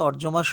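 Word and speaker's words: অর্যমা: তো তাকে আমরা ওটা বহুবচনের রূপ একবচনে তো অর্জমা অর্জমা আমরা উচ্চারণ করি ব্যক্তি হিসেবে নাম ধরে একবচনে অর্জমা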